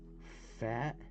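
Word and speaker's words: Pfaadt: We got Brandon Fat.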